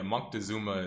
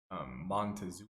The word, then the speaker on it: Moctezuma: Yeah, Moctezuma is his Oaxaca, Montezuma is what you would describe as the modern pronunciation.